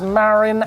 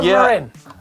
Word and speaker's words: Marin: This is Tobias's Marin Alpine Trail E1 near Stonehenge.